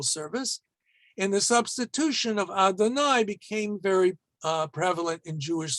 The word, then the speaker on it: Adonai: Okay, and when we read it, Yud Hey Vav Hey, we're always going to pronounce it as Adonai.